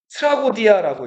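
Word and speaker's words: τραγῳδία: 자, 그래서 이거에 합성하면은 트라고디아라고 읽어요. 이 트라고디아가 영어로 하면은 트레지디가 되죠.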